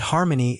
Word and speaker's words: harmony: And harmony is slash hr.m.ni slash, also stressing the first syllable.